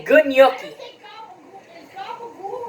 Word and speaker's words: gabagool: Is gabagool correct?